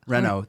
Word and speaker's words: Renault: 42 he's contacted by Renault want to give that a shot Renault that's right Renault if you watch F1 you would know Renault that's how you say it so at the time Renault is a car company